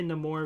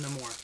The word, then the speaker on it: Namor: right here Namor uh I'm gonna say no more because that's kind of how he pronounced it um or uh